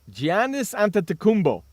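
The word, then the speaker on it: Giannis Antetokounmpo: during the break Ron found out how to pronounce this guy's name it's gianis an tumbo hey I got it yes you did Gian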